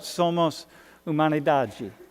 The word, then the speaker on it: somos humanidade: So the title of this class is you pronounce that somos humanidade, and it's Portuguese for we are humanity.